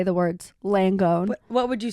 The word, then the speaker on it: Langone: it's the nurse from uh NYU langone um langone yeah that's how you pronounce it what' you think it was oh